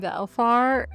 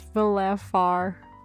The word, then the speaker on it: Velefar: I've been saying his name Velfar, and it's Velefar.